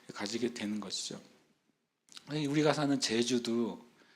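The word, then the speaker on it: Jésus: 제주 발음이요.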